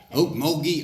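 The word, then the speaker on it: Okmulgee: the okie from oakmoby thank you lynn she pronounced my hometown correctly oakmogee oklahoma uh before i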